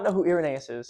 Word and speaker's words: Irenaeus: Irenaeus, I got it. Irenaeus. Irenaeus. That is correct. And Irenaeus. if you do not know who Irenaeus is, Ireneo. and if you do not know who Irenaeus is, Y si no saben I quién am